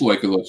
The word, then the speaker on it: Legolas: I always want to say Legolas, but I don't know how you pronounce his name. Yeah, it is Legolas. Yeah. Legolas.